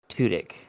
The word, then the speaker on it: Tudyk: how it is because he gets so into the roles that he plays, and we're talking about Alan Tudyk, I believe Yeah, is how Alan he Tudyk. pronounces it.